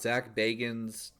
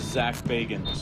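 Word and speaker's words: Zak Bagans: Well, it turns out Zach Baggins... How do you say this fucking guy's name again? My name is Zach Bagans.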